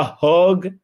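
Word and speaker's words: Hauge: the man of the match unanimously, John Peter Hogg.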